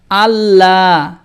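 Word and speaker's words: الله: অনেকে বলে আল্লাহ, আল্লাহ হবে না। আল্লাহ একটা শব্দ, আল্লাহ শব্দের আগের হরফের উপরে জবর আর পেশ থাকলে লাম খাড়া জবর ল হয়, এবং আল্লাহ শব্দের আগের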